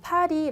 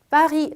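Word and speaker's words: Paris: 비해 비라고 읽으셔야 되고 우리 스펠링 에는 s 가 있지만 없고 우리가 발음할 때는 빠이 라고 나는 이유가 불어 에서 끄 참은 발음을 하지 않아요 그렇기 때문에 우리가 보통 빠리 라고 하셔야 되요 따이 라 리스 아구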